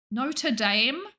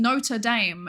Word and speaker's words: Notre Dame: Notre Dame.